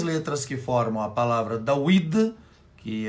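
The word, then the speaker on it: דוד: Davi, que em hebraico se escreve e se diz Dawid, são 3 letras.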